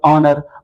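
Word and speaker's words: honor: जैसे आप देख एग्जांपल ऑनर ऑनेस्ट वहां पे जो एच साइलेंट रहता है लेकिन जो साउंड प्रोड्यूस होती है वो वोवेल साउंड होती है।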